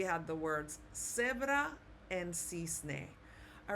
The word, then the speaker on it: cisne: So like with the word cisne, okay, they would pronounce it cisne, okay, like a TH.